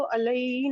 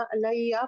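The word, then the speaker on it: عَلَيَّ: जी, आपने अभी अला और ये पढ़ा ना, तो उसको अलई नहीं पढ़ा, अलैया पढ़ा, जी मतलब या उसको होगा अलग ही उसका प्रोनाउंसिएशन।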